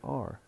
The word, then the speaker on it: are: Are, that's the strong pronunciation, are. But we usually pronounce it, especially in connected speech, we usually pronounce it as weak syllable. So it is either schwa only or schwa are, depending on what comes next, what follows that auxiliary. If that auxiliary is followed by a word starting with a consonant, then it's only schwa.